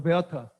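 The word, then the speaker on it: Werther: 그 주인공 베르테르, 독일어식 발음으로 베아타.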